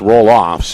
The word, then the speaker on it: Roloff: name earlier this week it's not rolfs it's roll offs and he's been a